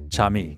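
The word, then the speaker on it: Cham'e: All right, how do you spell it? C-H-A-M apostrophe, apostrophe E. I. Chame. Chami.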